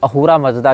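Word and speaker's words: अहुर मज़्दा: अब ये स को ह पढ़ते हैं फारसी, सकार का उच्चारण हकार के रूप में करते हैं, इसीलिए अहूरा को आप असुर भी कह सकते हैं, असुर मजदा भी कह सकते हैं।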